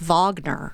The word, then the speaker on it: Wagner: on the pronunciation thing even though it's spelled Wagner I believe it is Vagner you may think that